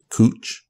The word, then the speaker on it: Couch: Portland Oregon they have a street spelled couch that's pronounced cooch named after John H